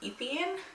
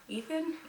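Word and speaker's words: Étienne: But whenever they said like his name in this book, I'm like, Etienne? Etienne? I mean, I can probably Google it and see what the pronunciation is. So let's do that. Etienne. Etienne. Etienne.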